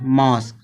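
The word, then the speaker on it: mosque: यू ई आ गया, तो इसका उच्चारण का निकलेगा, का निकल रहा, का, मॉस्क।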